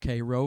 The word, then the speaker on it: Cairo: of cairo was named after cairo egypt but pronounced cairo from its founding during the 1800s southern illinois